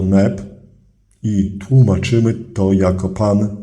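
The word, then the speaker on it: nb: Wymawiamy go jako Neb i tłumaczymy to jako Pan Władca.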